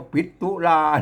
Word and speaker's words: ปิตุลา: ปิด เา ครับ มัน มัน ไม่ มี ตา เฮา ก็ อ่าน ปิ ปิตุลา นะ ครับ ถ้า มัน มี ตา ซอน ตา ก็ อ่าน ว่า ปิตุลา ก็ โอเค นะ ครับ พระ ปิตุลา